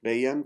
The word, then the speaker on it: veiem: Veiem. The E is an A.